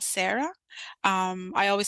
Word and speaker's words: Sarra: other arabic speaking countries my name is pronounced differently because I have a very uniquely Sudanese way of pronouncing my name so other Arabic countries might say Sarah for example but my mother says Sarah and it's hard I